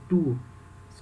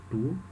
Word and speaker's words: tous: Nesse caso, esse tu se pronuncia assim, o S é mudo, tu. Algumas situações o S vai ter som, tus.